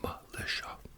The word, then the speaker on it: Melissia: know how to write because it's spelled melissia but spelled or pronounced Malisha yeah so so something